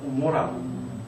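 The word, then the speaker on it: עמורה: 고모라인데 히브리어로는 아인입니다. 오모라입니다. 오모라. 오모라가 이제 헬라로 번역되면서 감마로 번역이 되기 시작해서 고모라 그 정도로 기억 기억이 굉장히 안에서 발음이 되잖아요. 이제 그 안에서 목 깊은 데서 발음을 하던 자음이 그런 겁니다.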